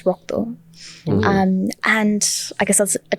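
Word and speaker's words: রক্ত: So in Bangla, the way we say blood is rokto.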